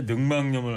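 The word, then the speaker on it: 늑막염: 자, 이 근막염 발음 얘기했었는데 제가 옛날에 능망염을 알았었거든. 고등학교 3학년 때. 그래서 제가 저걸 잘 알아. 능망염? 저도 능막염 이렇게 능망염. 발음을 했었는데 사전을 보니까 능망염으로 발음을 해야 돼. 네. 니은이 첨가돼야 어쩌다 된다.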